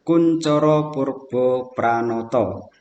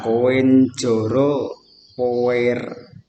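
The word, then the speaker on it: Koentjoro Poerbopranoto: Jadi Anda cara membacanya karena ejaan lama, OE itu dibaca U, TJ itu C. Nah, gitu. OE U. Berarti bagaimana bacanya? Kuncoro Purbo Pranoto. Bukan koin joro power. Bukan seperti itu ya.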